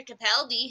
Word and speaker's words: Capaldi: 12th Doctor and surname that rhymes with Garibaldi, Peter Capaldi, has revealed that Stephen